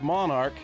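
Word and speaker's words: Monark: Pronounced Monarch like royalty only spelled different. M O for Missouri and A R K for Arkansas, M O N A R K.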